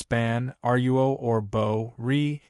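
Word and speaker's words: 般若: It's not pronounced ban ruo. It's pronounced bo ri.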